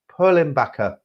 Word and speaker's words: Perlenbacher: You did actually pronounce it correctly from what I've seen. I don't know how do you say it? Perlenbacher.